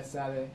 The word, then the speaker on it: Sade: Yeah, Sade. And how do you It's a say? bit more, well, in Nigeria it's more like that. It's Sade in Nigeria.